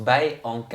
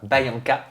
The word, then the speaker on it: Byankah: De ton côté, Bianca, et d'ailleurs je crois que c'est Bayanka, Anka. qu'on prononce Bayanka. Anka. Bayanka.